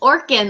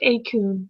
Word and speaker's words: Orkun: yeah now people are going to think it's Orin like us on like us over here so PSA guys is pronounced aun right yeah it's like so much better than